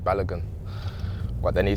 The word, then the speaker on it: Balogun: just told them how to pronounce my surname and I said balogun but then he said